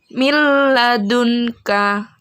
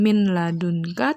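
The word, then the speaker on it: مِنْ لَدُنْكَ: Bu Guru contohkan, mil ladunka. Jadi bukan min ladunka, tapi mil ladunka.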